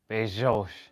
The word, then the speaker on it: Bezos: Oh my goodness, Bezos. Bezos. This is like a child attempting to pronounce names for the first time ever in life.